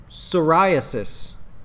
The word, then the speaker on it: psoriasis: cancer Crohn's disease and psoriasis spelled with a p my wife would be